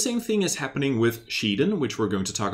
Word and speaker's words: Shiden: And also a little other side note is that the pronunciation of Shiden remains a little bit unclear. Some people say Shaden.